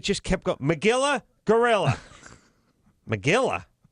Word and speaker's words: Magilla: Magilla? Whose name Magilla? It rhymes with gorilla.